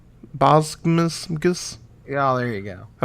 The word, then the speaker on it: Boggs: At least you're pronouncing my name right. Boggs.